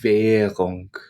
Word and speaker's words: Währung: Actually, as well, I should mention, when an R comes after a vowel sound, it's not pronounced in its normal form, but it becomes very, very soft to the point where you almost don't hear it.